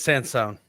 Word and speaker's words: Sansone: It is Sansone.